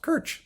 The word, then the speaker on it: Krč: It was spelled Krc, and it's pronounced Krč, like Krček. It's church something, and we had a great time together.